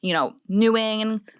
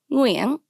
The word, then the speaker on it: Nguyen: I've heard, Nguyen, Wing, Nguyen.